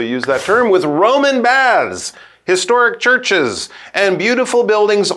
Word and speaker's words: Bath: That's how we also use that term with Roman baths.